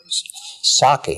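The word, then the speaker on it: Csáki: Saki, as I pronounce it, probably C-S-A-K-I with kind of a little wiggle over one of those. However you pronounce it. I always said Saki and let it go with it.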